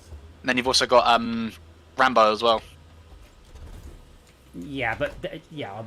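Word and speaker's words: Ranbeaux: oh no let's not call our character rambo r-a-n-b-e-a-u-x not r-a-n-b-o that's how you pronounce it i wasn't expecting the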